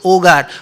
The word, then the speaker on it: Hogar: spiritual destroy ramakrishna ogar actually it is h-o-g-a-r hogar we will say but in spanish h is silent so ogar what does ogre means